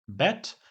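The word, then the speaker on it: Bett: jako krótkie i właśnie jeżeli to powiemy krótko to wtedy jest łóżko czyli bet A jeżeli powiemy długo to wtedy mamy na myśli grządkę a więc Bet łóżko grządka Bet i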